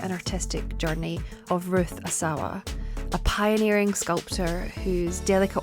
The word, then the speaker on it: Asawa: surname Asawa Asawa and I'm going to try and stick to Asawa because when I've watched several videos of Contemporary Art historians discussing her Asawa seems to be the more common pronounced anunciation um but basically say